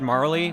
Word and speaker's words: Marle: I thought the E wasn't pronounced in Marley's name. I think it depends on who you talk to. I've always said Marley, but I've also heard it's Marl.